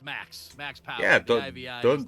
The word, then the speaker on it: |V|axPow3r: And by the way, Rondon, it's pronounced Max Yeah, Power.